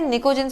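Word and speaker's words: pnictogens: याद रखिए P silent है, निकोजेंस बोलते हैं।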